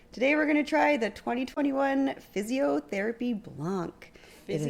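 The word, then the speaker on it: Fizziotherapy: Today we're going to try the 2021 Physiotherapy Blanc. It is Physiotherapy? Physiotherapy. Oh. It's spelled F-I-Z-Z. Oh, okay. I-O. Because it's like a sparkling white wine.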